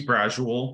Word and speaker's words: Brasuell: and my name is bradshawal that's pronounced like casual so if you already